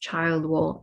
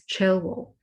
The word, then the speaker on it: Childwall: If you are from Liverpool, you might recognize that this is where our university is based, and it is not pronounced Childwall, it is Chilwell, because previously the word child would have been pronounced child.